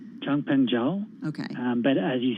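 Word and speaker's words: Changpeng Zhao: cz how do you say his full name jung peng zhao okay um but as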